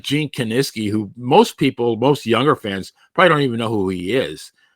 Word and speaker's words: Kiniski: And I'll be honest with you, reading the wrestling magazines, it took me a long time to pronounce Gene Kiniski. I used to say Kaninsky, Kaczynski. I always still say Kaninsky.